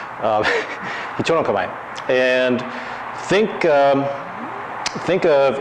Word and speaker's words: Hicho: It's not pronounced Hicho. It's Hicho, okay? And so if I say that, somebody wants to say bless you, that's fine. Just think of it as sounding a little like a sneeze.